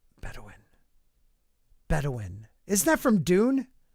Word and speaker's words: Bedouin: you e clay thomason here we go it's pronounced better win bedouin bedouin bedouin isn't that from dune in in that